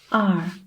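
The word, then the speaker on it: 二: it wrong the first one is number two R this is a character this is the pronunciation the being the key to pronouncing this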